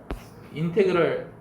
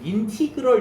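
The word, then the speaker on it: integral: 인테그랄 인테그랄 fx dx라고 읽어. 인티그럴 이렇게 읽지 마세요. 인티 인티그럴이 뭐야? 인테그랄로 읽으세요. 인테그랄 한국말로 쓰니까 좀 이상하네.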